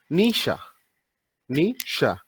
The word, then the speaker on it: Nietzsche: call him nja but in Germany the real pronunciation goes like this Nisha Nisha so introducing him before